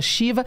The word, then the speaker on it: Shiva: E o Shiva dela é Shiva, como se fosse a Shiva hindu.